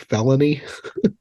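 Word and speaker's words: Felinet: the sister way that it sounds like felony which I thought was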